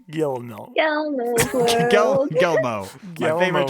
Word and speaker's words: Guillermo: There's L's in there somewhere. No, they're not. They're pronounced like a Y. Guillermo.